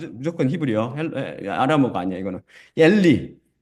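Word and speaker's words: אלי: 엘리. 이 문장 마지막 엘리, 라마 아자부타니 제가 제일 밑에 그 시편을 올려놨잖아요. 이게 엘리로 발음되거든요. 엘리. 이건 히브리어입니다. 명확한 히브리어.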